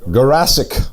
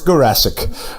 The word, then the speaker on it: Garasic: Garasic. Garasic, like Jurassic Park. Just like Jurassic, but it's Garasic.